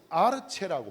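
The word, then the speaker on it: ἀρχή: 그리스도로는 아르체라고 발음합니다.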